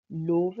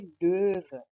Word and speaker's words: Löwe: इसी तरह ओ के ऊपर दो डॉट्स हैं, तो इसको आपने ओ नहीं प्रोनाउंस करना, यानी कि आपने करना है ö, यानी जैसे कि द वर्ड löwe के अंदर löwe, आप लोव नहीं बोलेंगे, आप बोलेंगे löwe।